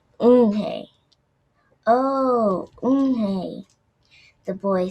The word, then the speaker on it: Unhei: Une? The girl asked, scrunched up her face. Une? Some kids chanted. No, Eunhae corrected. It's spelled Unhei. It's pronounced Eunhae.